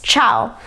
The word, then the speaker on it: ciao: and in Italian it's ciao. And the cha sound in Italian is CIA, but in English it would be CHA, okay?